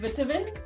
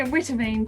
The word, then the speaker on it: Witteveen: Kate Witteveen. Am I pronouncing it right? Yeah, pretty Witteveen, but yeah, Witteveen's pretty good.